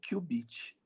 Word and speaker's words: qubit: Embora QU, né, fosse pronunciado assim, exatamente como você falou, normalmente as pessoas pronunciam, porque o QU é de quantum, né, como Q só uma vez. Então, qubit.